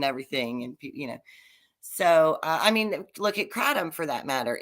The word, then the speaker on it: kratom: Kratom. Well, kratom is what they call it in Europe. In Asia, it's kratom. I'm sorry. But when I say it like that, people look at me like I'm insane. So no, kratom is how the Americans say it.